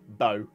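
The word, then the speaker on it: Beau: Wow, you pronounced my name right. Hey, Bobby. Yeah, I know that because that's like a half of me mother's maiden name. So, B-E-A-U, Bo.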